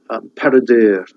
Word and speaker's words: Peredur: And then Peredur has got that U sound at the end of it.